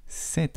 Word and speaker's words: cet: à quoi c'est que cette prononciation 7 et 7 c'est la même prononciation mais on écrit de manière différente c'est le seul point